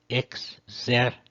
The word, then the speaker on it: exercitus: A quinta, exercitus. Lembrando que o X soa como KS.